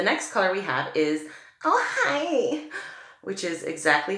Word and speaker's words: Ojai: The next color we have is Ojai, which is exactly how she said it's pronounced.